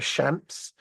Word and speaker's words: Shamps: how I pronounce the Shamps, it's like champagne, but just Shamps, CHAMP, okay, S, Shamps, and Giggles, GIGGLES, okay.